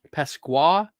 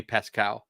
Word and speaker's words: Pasqua: loves this stuff um Pasqua Pas am I saying it right now Pasqua yeah I know sometimes I do say pescal Pascal and that's because we knew someone named Pascal yeah and I think